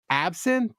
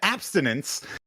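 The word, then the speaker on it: absinthe: a fifth of Absson. Is that how you say? No, you said Damn it. He said it correctly this time. Pre-show. You butchered it. You said abstinence.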